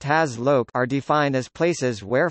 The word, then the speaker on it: HazLoc: electrical engineering, hazardous locations, sometimes abbreviated to HAZLOC, pronounced HAZLOC, are defined as places where fire or explosion